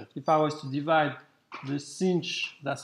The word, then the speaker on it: sinh: If I was to divide the sinh, that's how you say it, with the cosh, you'll end up with that function here.